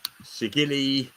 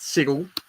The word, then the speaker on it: Sigil: Should we start with Project Sigil, Sigili, depending how you wish to pronounce it. So, Project Sigil, I'm going to put it Sigil. I'm going with Sigil.